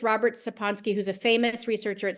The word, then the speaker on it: Sapolsky: I feel like my brother said I got his name wrong in the book, and I think it's Robert Sapolsky. I think I called him Sapolsky. I believe it's Robert Sapolsky, who's a famous researcher at Stanford.